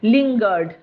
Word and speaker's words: lingered: আচ্ছা, তারপরের একটা ভুল প্রোনাউন্সিয়েশন, সেটা হচ্ছে লিঙ্গার্ড, LINGERED, এটা হচ্ছে লিঙ্গার্ড।